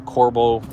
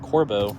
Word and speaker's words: Corbeau: So, we're going to move on to the Corbo Corbo. I don't even know why I keep pronouncing that wrong.